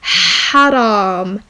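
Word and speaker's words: حرام: So here we have but in front of the word we have seven. You have to remember that I told you that seven is pronounced he. So let's write let's read the whole um word. So it becomes haram.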